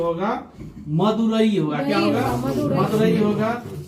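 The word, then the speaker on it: मदुरै: से चल सकता है, लेकिन शुद्ध प्रोनाउंसिएशन में क्या होगा? मदुरई। वैसे इसमें जो कोकई भी लिखा हुआ है, लेकिन आपको क्या याद रखना है?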